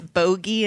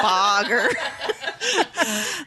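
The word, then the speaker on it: Bogge: saying cuz it's Bogey and not Boger that sucked balls I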